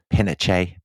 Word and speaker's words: Pinochet: But we respect Chilean pronunciation, so it will be General Pinochet.